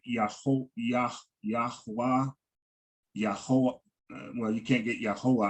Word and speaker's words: Yahweh: And it just could be the way I'm hearing it, but it sounds like you're saying Yahuwah. Yahweh, Yah, Ew. like the second one, Con. Yahweh. All right. Okay. So just for academic, I know we have our preferred way of pronouncing the Yod Hey Wahe. But just for academic, so everybody can see and we're kind of like on the same sheet of music, right? It's Yahweh, right?